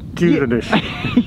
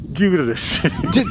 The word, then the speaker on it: Duirinish: In Gaelic, Duirinish. Yeah. Yeah, and in English? English, Duirinish. But the D sounds like a J, it's a soft D.